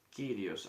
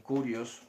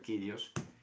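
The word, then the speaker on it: κύριος: Esto se pronuncia así. Kyrios. Hay algunos que pronuncian Curios. Pues bueno, no vamos a entrar a discutir eso. Yo pronuncio Kyrios.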